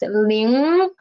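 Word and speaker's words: 零: when i said pronounced ling at the end of ling i my tongue position is still at here my nose is still working and the position of my tongue is still rising up the root of my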